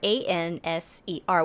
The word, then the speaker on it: Anser: Also called Answer. Answer. But not spelled like answer. Oh. Answer, Anser, which means goose.